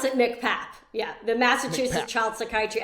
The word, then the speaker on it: MCPAP: can be a challenging AC it's MC people pronounce it mcpap yeah the massachusett child psychiatry Access program for moms so it's mcpap for moms there's actually one for kids that